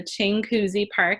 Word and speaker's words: Chinguacousy Park: in Branson is King everyone pronounces it differently so Chinguacousy Park is how I pronounce it that's a neighborhood that